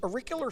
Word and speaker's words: auricular: So it's, I got a little note, it says pronounced auriculo. It's auricular therapy.